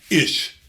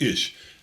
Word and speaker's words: ish: a long long time ish is the way it's pronounced ish so champion a great